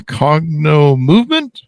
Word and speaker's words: Cognomovem: coach a uh what do how do I pronounce this uh correctly Katie a cogno movement you got it yep perfect cogno movement practitioner